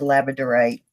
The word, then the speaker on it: labradorite: from Canada she's right right way to pronounce it and that's laziness on my part but it is pronounced labradorite and thank you our